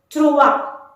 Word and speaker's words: trois: It's trois. Again, S is not to be pronounced. Final consonant letter is hardly to be pronounced in French. So trois.